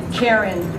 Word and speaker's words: Karen: To keep it all together, her name, Karen, rhymes with Sharon.